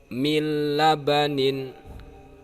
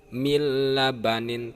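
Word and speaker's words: مِن لَبَنٍ: Jadi bacanya mir rabbik, mil labanin, mil labanin tanpa dengung. Jadi kalau membacanya memakai dengung, maka menurut istilah ahli tajwid itu cara membacanya salah kalau memakai dengung.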